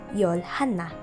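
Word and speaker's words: 열하나: pronounced it as yol 11 in korean is pronounced as yolhana just a combination of yol and hannah number 10 and number one and next is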